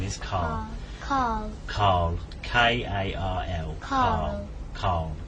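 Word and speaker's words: Karl: No, Carl. His name is Carl.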